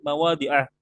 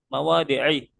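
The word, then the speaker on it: مواضع: Nah, kenapa di sini saya bacanya fi salah sati mawadi'ah, bukan fi salah sati mawadi'i.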